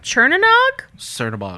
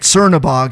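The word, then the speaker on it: Chernabog: But I'm saying the rabbit of Chernanog. Cernabog.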